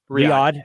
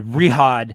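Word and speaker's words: Riyadh: Eastern time pay-per-view the kingdom aren and Riad how do you say that Riad excuse me reod Saudi Arabia in a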